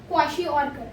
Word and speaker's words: kwashiorkor: ठीक है, प्रोनाउंसिएशन थोड़ी सी हार्ड है. it is kwashiorkor.